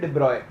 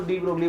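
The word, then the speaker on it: de Broglie: एक ये डी ब्रॉय concept, actually इसका करेक्ट प्रोनाउंसिएशन है डी ब्रॉय, और हम लोग तो डी ब्रोगली बोलते हैं, इंडियंस हैं, ठीक है।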